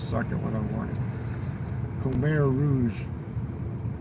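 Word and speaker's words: Khmer Rouge: Kare Rouge. It's spelled with a fucking K H M E R.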